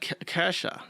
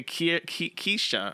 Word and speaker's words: Kirsche: It's like Kesha is how you say that name, but they say Kisha or something like that.